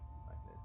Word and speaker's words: Myconid: Myconid.